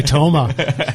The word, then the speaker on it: Toma: And you pronounced his name correctly. I was just going to say Toma. You put that emphasis on it.